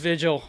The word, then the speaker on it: Vijal: Vijal is basically the easiest way to pronounce it. Vijal.